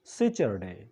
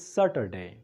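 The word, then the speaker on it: Saturday: هغې ته ویل کېږي سیچرډے تاسو به اورېدلي وي سیچرډے غلط تلفظ دی دا ویل کېږي ساټرډے صرف یو ځل ما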